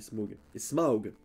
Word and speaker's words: Smaug: Et Smaug. pas que j'oublie de prononcer le U comme il faut.